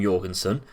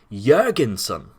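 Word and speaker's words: Jørgensen: suppose but you're concerned the o is pronounced like a u in burger so again go refer back to the burger so it's actually jurgensen nikolai jergensen that i might remember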